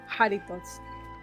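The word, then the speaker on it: Jarritos: The J is pronounced like an H. So Doritos pineapple. there you Yes. go. Haritos.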